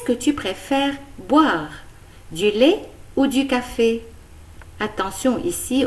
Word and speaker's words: lait: Du lait, du chocolat, du café au lait, du thé, du jus de fruits, du pain, des biscuits, des biscottes. Attention, dans le mot lait, on ne prononce pas le T.